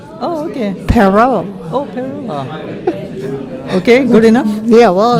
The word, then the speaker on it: Perot: think of a pear plus an O. Oh, okay. Perot. Oh, Peru.